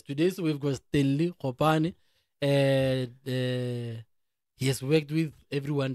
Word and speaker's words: Gopane: But how do you pronounce go or go? Gopane. Gopane because rena go ya rena ke KG.